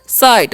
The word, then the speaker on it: sight: हो गया साई, और GH यहाँ पर साइलेंट होता है इसलिए इसका उच्चारण नहीं करेंगे, टी से ट हो जाएगा तो हो गया साइट।